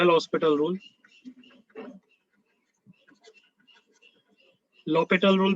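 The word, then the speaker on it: L'Hôpital: Next heading है लॉपिटल rule. लॉपिटल rule भी बोलते हैं इसको, प्रोनाउंस वैसे भी करते हैं, है ना, लॉपिटल, L ऑपिटल, H साइलेंट होता है, ऐसे ऐसे भी बोलते हैं, L लॉपिटल रूल।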